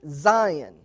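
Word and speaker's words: scion: grafting is called a Sian or you could pronounce it Zion C spelled s c rather than z i o n according to the Wikipedia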